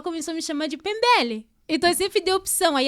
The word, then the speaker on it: Mpembele: então meu nome seria pronunciado de forma correta seria pembel o que é